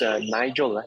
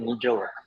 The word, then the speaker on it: Nigel: L for the introduction but it's Nigel not Nel it's okay I've been